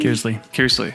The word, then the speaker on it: Kearsley: Kearsley.